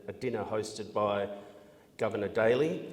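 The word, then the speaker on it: Daly: dinner hosted by Governor Daley which I think is actually more correctly pronounced Darley among the dishes the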